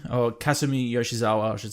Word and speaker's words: Kasumi Yoshizawa: out, is, Kasumi Yoshizawa is her name, or Kasumi Yoshizawa, I should say, is the pronunciation.